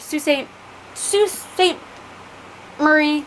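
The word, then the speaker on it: Sault Ste. Marie: to stay in her um local town of sault ste st murray michigan yes did i say it correctly yes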